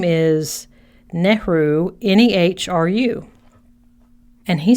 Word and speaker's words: Nehru: I'll spell it for you when I'm done. But the quote is from Jawaharlal Nehru.